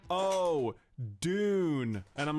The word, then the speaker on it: Dune: And he's like, oh, Dune. And I'm like, oh my god. This from a guy who pronounces Mario as Mario. Anyway, Dune. Wait, is it Dune or June? Dune. How do you pronounce it?